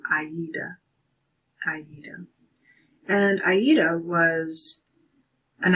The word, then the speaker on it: Aida: Spelling would probably look something like Ada. You could have a name like that, Ada, but the pronunciation of it is Aida.